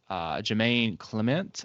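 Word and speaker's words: Jemaine Clement: For Watto, I have Jermaine Clement, I think is how you pronounce his name, who also has worked with Taika on What We Do in the Shadows.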